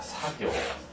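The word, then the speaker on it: 作業: 물론 이외에도 여러 가지가 많습니다만 이처럼 작자를 사그라고 발음하지 않고 여기서 사교, 그 다음에 작용은 사요, 그 다음 발작은 헛사, 그 다음 조작은 소사. 이처럼 이런 작자를 전부 다 사라고 읽는 점에 아주 조심하시고요.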